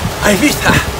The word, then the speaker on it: Ibiza: Right now we're headed to Ibiza, or as the British say, Ibiza.